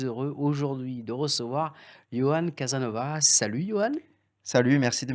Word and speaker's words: Casanova: Alors on dit Casanova ou Casanova? Chez nous, on dit Casanova, Ah, Casanova. mais on le dit le A, mais on Ah, on avale un peu la fin des syllabes.